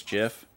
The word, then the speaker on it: GIF: Only thing wrong with her really is that she pronounces GIF with a J sound. She says GIF.